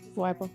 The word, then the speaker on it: Wyble: Today we have Brandy Wyel today. Is that how you say it? Wible.